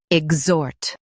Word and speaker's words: exhort: ig zot exat ig zot exat Stress zort and keep ig soft.